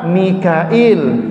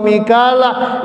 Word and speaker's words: Mikail: harus kita baca Jibril, Mikail harus kita baca Mikail. Jangan sampai baca Al-Quran Jibril wa Mikala itu dibaca Gabriel wa Mikal.